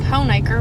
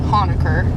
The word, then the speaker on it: Honaker: yeah there you go so that is how i know that we are pronouncing hoenaker right because a lot of people outside southwest virginia will say hanukkah now that still that's not how you pronounce that people will correct you